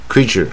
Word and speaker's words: creature: 那我们看看意思那个怎么解释鸟呢 creature 我们要念 creature，它是 creature，